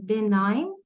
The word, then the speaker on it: benign: Also benign. And be careful because G is silent, and compassionate, and so on.